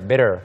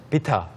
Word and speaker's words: bitter: 네, 소피 씨가 bitter. Bitter. Bitter라고 하니까 bitter. 조금 다르게 들려요. Uh-huh. And some people I hear him say bitter. Bitter. They even take out the T.